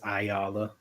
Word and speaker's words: Ayala: So it's just Ayala, or just Ayala makes you holla.